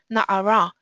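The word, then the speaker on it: נערה: Or in the Torah it's written Nun Ayin Resh, but you have to actually read Na'ara.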